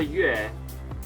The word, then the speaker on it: 月: now let's learn how to say moon in chinese okay it is pronounced on the fourth tone so it's going down one more time yes the chinese character yue looks like a crescent